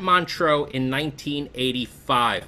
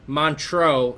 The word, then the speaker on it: Montreux: I can Montreux. slight French accent.